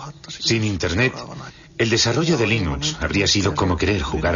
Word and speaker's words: Linux: La primera pregunta de la categoría fácil es: ¿cómo se pronuncia Linux? Bueno, yo Linux lo pronuncio Linux. Sin embargo, si fuese Linus Torvalds, no hay duda de que lo pronunciaría Linux. Claro que si uno es de la costa oeste de los Estados Unidos, lo más seguro es que lo pronunciaría Linux. Pero a Linus Torvalds le importa un bledo cómo pronunciéis Linux siempre y cuando lo utilicéis.